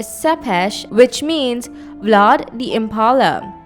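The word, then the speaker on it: Țepeș: Dracula earned another nickname, "Vlad Tepes" (pronounced tsep-pesh), which means "Vlad the Impaler."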